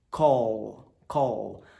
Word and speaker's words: Call: Wellington é assim não Call Call termina com a língua em cima tá Call Black ao